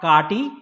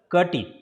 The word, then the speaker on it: Kati: And this one is not Kati, it's a Kati. It is I here, right? So you will be pronouncing it as a small E sound.